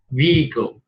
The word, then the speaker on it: vehicle: Vehicle. Yeah, cái chữ H là nó cầm. Chúng ta lược chữ H thì vehicle.